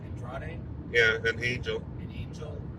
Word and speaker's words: Andrade: And apparently now we got Andrade and Angel, who again were feuding not 1 week ago.